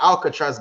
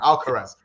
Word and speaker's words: Alcaraz: I just said, listen, that Alcatraz guy, even now I think I'm saying his name wrong. Alcaraz.